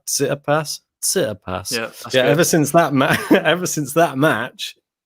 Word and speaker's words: Tsitsipas: Tsitsipas.